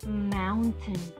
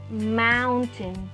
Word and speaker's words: mountain: Vean qué lindo se pronuncia. Tiene una A, aunque se escribe con una O. ¿Se acuerdan que se las vimos? Ajá. Ahí vuelve a aparecer, nos sigue apareciendo. Mountain. Y la A y la I se fusionan.